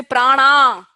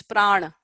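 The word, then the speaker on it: प्राण: and please don't say prana I will disown you as my student if you say prana brahmana prana and don't say prana its prana Buddha honour viana Samana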